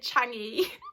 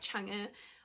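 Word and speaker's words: Chang'e: I always pronounced it Changi, which is so bad. But then Tammy pronounced it in one of her vlogs, so I think it's actually like Changa or Changa.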